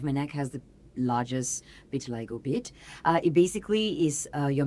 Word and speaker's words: vitiligo: So I actually pronounce it as vitiligo.